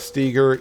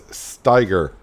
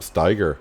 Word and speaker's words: Steiger: It's not Steger, it's Steiger. Steiger. Yep, Steiger.